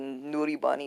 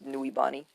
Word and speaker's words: Nuibari: That's not how you say Nuribani. It's Nuibani.